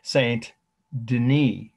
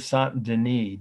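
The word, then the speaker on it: Saint-Denis: so said our way saint denis now that's the french pronunciation of the first name dennis church of santandini d-e-n-i-s ambulatory now that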